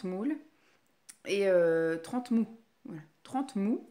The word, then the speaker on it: Trentemoult: De 30 moules. 30 moules. Et 30 mous. Voilà. 30 mous, c'est comme ça que ça se dit. Ça s'écrit 30 moult, mais ça se dit 30 mous.